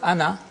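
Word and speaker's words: أنا: This means that the alif is not pronounced in continuous reading, but it is to be pronounced in the pausal form. When you pause, ana, you read the alif, pronounce the alif.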